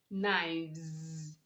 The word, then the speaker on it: knives: example we have knife knives you don't say nice rather you say naimz shelf shelves in these words the s is making the z sound you are not to